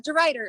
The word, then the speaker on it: Reiter: Yeah, de Reiter. It's just like play on the word right.